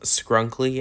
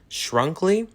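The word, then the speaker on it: Skrunkly: So I was just editing this segment and I realized I pronounced Skrunk-ly as Shrunk-ly. It's a little bit too late to re-record this, so let's just pretend I pronounced it correctly.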